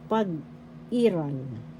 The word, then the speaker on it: pag-iral: Pag-iral, pagkakaroon. In English, presence. First syllable pag, second syllable I, third syllable ral. The second syllable has the accent pag-iral, that's presence.